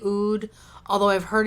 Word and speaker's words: oud: the way I have how do you guys pronounce UD I say oud although I've heard it's also pronounced out from a lovely subscriber I did some research